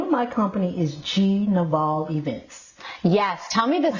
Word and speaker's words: Gnivol: G. Naval Events is how you say it.